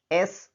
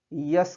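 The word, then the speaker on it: SP: कुछ लोग इसका उच्चारण या प्रोनाउंसिएशन गलती से यस करते हैं जो कि पूरी तरह गलत है, तो यस नहीं बल्कि एस होगा, इसलिए एन एस पी, एन एच आर।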